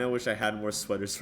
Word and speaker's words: SWTOR: Pronounce it correctly, sweater. Okay, sweater.